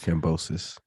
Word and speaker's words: Kambosos: Yeah, George Kambosos.